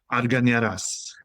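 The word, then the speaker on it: Argañaraz: That's Giovanni Arganaraz. How do you say it in your native tongue? Arganaraz.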